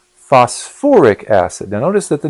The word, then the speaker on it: phosphoric: You might think it would be phosphic acid, but someone at some point, I suppose, decided that that would sound funny, so they put put that extra syllable on there, the or, so it's phosphoric acid.